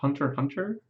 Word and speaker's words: Hunter x Hunter: just it's not my cup of tea Oh Hunter x Hunter or hunter hunter as I'm told many times that it's actually pronounced sure sure this is the one that